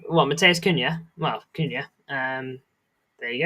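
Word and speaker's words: Cunha: How to say it is Kuna.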